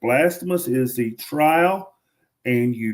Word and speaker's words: Blasphemous: And if you're looking for something else, listen to me try to pronounce this. I'm going to call it Blasamus. Blasphemus is a 2hour time trial game.